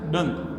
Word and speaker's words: Donne: पहला पॉइंट क्या है his name was pronounce as spelt डन इनको आज भी जॉन डन से जॉन डन ना कहते हुए क्या कहते हैं डन कहते हैं इनको क्या कहते हैं डन लोगों के बीच में बोलते बोलते क्या हो गया इनका डन इनकी स्पेलिंग क्या हो गई डी यू डबल एन ठीक है तो डन